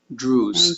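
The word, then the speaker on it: Druze: Thank you, Drews.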